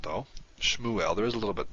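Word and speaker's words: שְׁמוּאֵל: hebrew shmuel and this according to our rule the shabazz at the beginning of a syllable therefore it's vocal beginning of a word is obviously the beginning of a syllable so shmuel now you can hear that you don't pronounce the shiva very much shmuel it's almost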